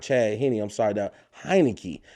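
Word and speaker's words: Heinicke: I'm sorry, that Heineke. That rhymes with Heineken.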